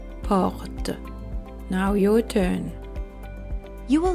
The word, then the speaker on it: porte: Now I will pronounce the two words wrongly then correctly. O, or, O, or. Porte, porte, porte, porte.